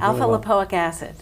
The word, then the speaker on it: alpha lipoic: now um what is alpha lipoic did I say it right that's great yeah you did alpha lipoic and how do we